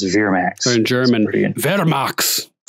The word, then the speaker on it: Vermax: name pronunciations were interesting he says Veer Max like v-e-r let's go to your